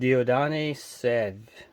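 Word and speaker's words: Dieudonné Saive: It was developed by both John Moses Browning and Dieudonné Sèvres. I think is how you pronounce his name. It's French.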